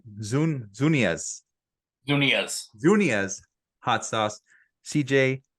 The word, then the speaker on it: Zunilla's: what's the name of the hot sauce again zunia zunia CJ thanks man so much I just